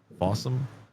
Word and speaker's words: Fossum: There's also a program called Fossum, like awesome but spelled with an F. Fossum.